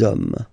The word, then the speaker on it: hommes: You don't pronounce it, so you get des hommes, okay?